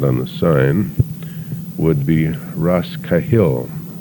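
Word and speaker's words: Rosscahill: used but not on the sign would be Ras kahil spelled r-o-s-s c a h i l l but our pronunciation was it was correct and apparently and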